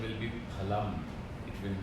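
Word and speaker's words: फलम्: Dakshaji, and the pronunciation will be phalam, it will not be phalam. Okay? The pronunciation is labial, pha. So in Sanskrit we do not have fa, like father. We will have phalam.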